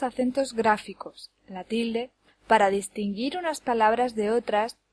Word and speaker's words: distinguir: acento prosódico por ejemplo distinguir lleva el acento en la última sílaba dis gir no puede llevarlo en ninguna de las otras dos porque daría lugar a palabras que no existen distinguir o distinguir la sílaba que recibe el